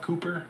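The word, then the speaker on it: Kuiper: name is Glenn Cooper I think his name is pronounced k-u-i-p-e-r Cooper Maybe for the Oakland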